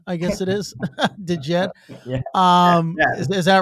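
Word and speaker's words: DJED: I don't even know how I would pronounce this. Dejed, I guess it is. Dejed.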